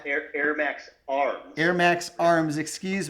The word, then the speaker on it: AirMaks: cks it's right on the bottle here KS pronounced Air Max Air Max arms Air Max arms excuse me they've got